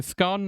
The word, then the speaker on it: scone: But to me, because it's got an E at the end, it rhymes with gone, so it's gone.